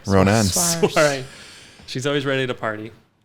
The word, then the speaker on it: Saoirse: So I think most people would pronounce that Ladybird. Swerza or something. Soiree. Ronan. Soiree.